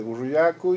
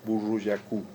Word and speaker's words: Burruyacu: El quechua es un idioma de acentuación grave. o sea, se acentúa en la penúltima sílaba. El que se acentúa en la última sílaba es el guaraní, ¿sí? O sea, no corresponde decir burruyacú, corresponde decir burruyacu. Burro, el burro viene de burro, Sí, sí.